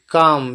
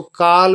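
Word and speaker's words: calm: कि उज्जवल होगा आगे काम सी एल एम इसको काल नहीं बोलते एल साइलेंट होता है काम बोलते काम मतलब शांत जैसे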